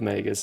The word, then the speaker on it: Magus: But spelling of Magus is M-A-Y-G-U-S. It's May and Gus put together.